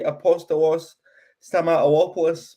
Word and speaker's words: Apostolos Stamatopoulos: I don't think the new boy Apostolos Stamatopoulos, by the way, that's how you pronounce it.